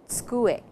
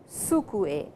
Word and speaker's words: tsukue: A table is called a tsukue. It is T-S-U-K-U-E, tsukue, and not sukue, S-U-K-U-E. Please remember that it is tsukue.